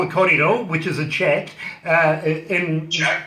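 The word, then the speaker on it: kōrero: Even if you feel like just, a coffee and a sit down, we'll have a little, what we call a corridor, which is a chat.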